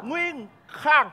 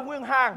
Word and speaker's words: Nguyên Khang: Nguyên Khang. Nguyên Khang. Chứ không phải Nguyên Hàng. Bắn ra. Em nói nhanh là Nguyên Hàng.